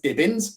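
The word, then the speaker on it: Dibins: pronounce pronounce my name so my name is dibbens some people spell it d-i-b-e-n-s so my mind i've got divins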